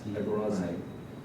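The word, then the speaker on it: ἀγοράζειν: They had a verb because it was called agorazen, Greek. Zin, Z-E-I-N, but the Greek alphabet is different. But in English, that's how it would be pronounced. Agorazen.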